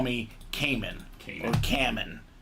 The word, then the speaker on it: Kamen: And the first time I was Kamen, then I was Kamen, then I wrote them again, said it's Kamen, I put it phonetically.